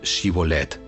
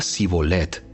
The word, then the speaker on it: Shibolet: Ellos le pedían que pronunciara la palabra Shibolet. Si era de Efraín, diría Sibolet, porque a la gente de Efraín le cuesta pronunciar bien esa palabra.